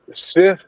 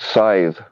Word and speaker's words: scythe: what is the word a uh uh uh sift no what what is it called yeah what it's like what the Grim Reaper has it's it's pronounced scythe oh sorry there we go what is it